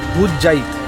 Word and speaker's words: ভুতজাইদ: আচ্ছা আমরা যেটা বলছিলাম জায়গাটার নাম হচ্ছে ভুতজাইদ ঘাট। ভুতজাইদ আমরা উচ্চারণটা ভুল করছিলাম এতক্ষণ।